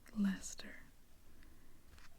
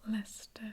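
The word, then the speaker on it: Leicester: And in case you wonder why I pronounce this as Lester is because of my time in England riding the tube to Lester Square.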